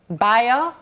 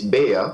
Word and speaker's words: Bea: Baya? Well, I mispronounced it slightly. It's Bea.